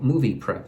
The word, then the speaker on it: MoviPrep: So the laxative, now I took something called Movie Prep, and that's spelled MOVIPREP, Movie Prep.